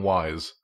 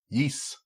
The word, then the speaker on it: Ys: pronounce that other than wise I always just called it Y ass I believe that the word is from Norse so it sounds like like New Zealand yes yeess I don't know it's